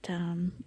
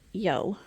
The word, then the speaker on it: ewe: other people pronounce it yo so the question was which is correct and the answer is the correct way to say it is you ewe is pronounced U h I went and